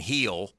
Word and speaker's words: Gil: they get Cole and heel I guess that's how you say his name it's Gil but it's heel he yeah and he's